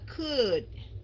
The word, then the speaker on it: could: Thành ra cái này đọc là could.